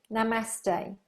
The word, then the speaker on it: Namaste: Namaste.